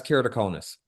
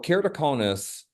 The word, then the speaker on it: keratoconus: Good pronunciation, by the way. Did I get So it? that's, yeah, so that's keratoconus. Okay, perfect. Okay. So keratoconus as a disease is the bulging out of the cornea itself.